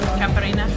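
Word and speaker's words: caipirinha: And I've got a, how do you pronounce this, Caprina? Caparina. Caparina, to wash it all down.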